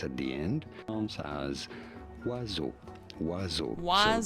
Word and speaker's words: oiseaux: As oiseau. Oiseau. So there is an X at the end. As oiseau. Oiseau. Oiseau. So there is an X at the end, but it is silent.